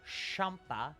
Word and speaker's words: Champa: lose the Frieza Champa Champa because you supposed to pronounce it like champagne Champa seems a bit